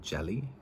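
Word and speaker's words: djeli: I'm saying it right, or a jelly, I think is the name in the language. D-J-E-L-I is the pronunciation help that it gave me, the way to sound it out.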